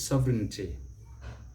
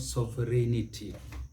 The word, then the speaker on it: sovereignty: is the word is sovereignty sovereignty the british will say sovereignty the americans will see sovereignty sovereignty as a difference sovereignty but it is not sovereignity sovereignty please let's note that